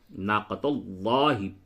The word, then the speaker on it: ناقة الله: تو یہاں پہ چونکہ لفظ اللہ کے لام سے پہلے زبر ہے تو اس کو ناقۃ اللہ ناقۃ اللہ پڑھ کر کے پڑھیں گے.